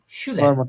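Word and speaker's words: Schüler: উপরে, এই যে দেখেন এস সেহা কিসের মতো উচ্চারণ হচ্ছে এখানে? শ না? যেমন শুলার, শুলার, হ্যাঁ।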